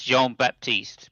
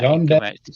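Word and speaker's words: Jean-Baptiste Lamarck: It's Jean Baptiste, by the way, just to get that John Baptiste. Baptiste.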